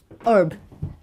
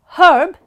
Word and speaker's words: herb: you're in America they often drop the letter H and just pronounce the RB so it becomes herb Herb versus herb okay is